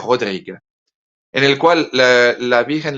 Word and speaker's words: Rodrigue: Se escribe casi como Rodríguez, pero sin la Z al final. Se pronuncia Père Rodrigue, en el cual la